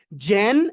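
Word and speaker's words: Z: তো জেন বলছি প্রথমে, কিন্তু জেন বলছি না, প্রথম বলবো কি জেন, gen, like gen and then জি, জেন জি।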